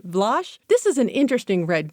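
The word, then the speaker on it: Vlosh: We also have what's called Vlach. V L O S H rhymes with squash. Vlach.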